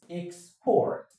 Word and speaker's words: export: The right choice and the right accent on that should be on the second syllable, which is export.